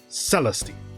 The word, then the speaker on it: Celestine: Celestine I think so the accent is on the is on the first e so it should be first syllable stress so celesty okay I'm ready to